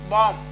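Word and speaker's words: bomb: trick हो गई जैसे बम अब यहां बी ओ एम बी तो देखिए एम के बाद बी आ रहा है यह वाला तो इसका साउंड नहीं करना है केवल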